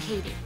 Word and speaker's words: Cady: rewind for you meet Katie Herron it's pronounced like Katie who after being homeschooled